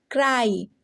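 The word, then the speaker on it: cry: पे फ्ली नहीं फ्लाई सी आर वाई क्राई डी आर वाई ड्राई ठीक है तो जब किसी वन सिलेबल वर्ड में होगा हमारा वाई तो क्या हो जाएगा आई से उसकी प्रोनंसिएशन होने वाली है जैसे यहां पे आपने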